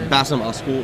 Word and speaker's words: Basem Askoul: Is that how you say it? Yeah, Basem Askoul.